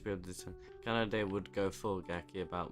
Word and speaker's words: Kanade: Kanade? Why did I say it like that? I didn't say that right. Yeah, Kanade.